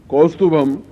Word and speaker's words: कौस्तुभम: ओम ह्रीं श्रीं क्लीं कौस्तुभम क्लीं श्रीं ह्रीं फट। मंत्र के उच्चारण को इसलिए बोल रहा हूं कि आप समझ जाएं कि इस सब में म की ध्वनि है, ग की ध्वनि नहीं है।